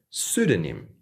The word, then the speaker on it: pseudonym: And again, we want to make sure the P is silent here. So we have pseudoscience. Pseudoscience. The next word is pseudonym.